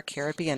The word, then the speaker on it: Caribbean: Next, we move into Unit 7, which is Central America and the Caribbean Islands, or Caribbean Islands, however you want to pronounce it.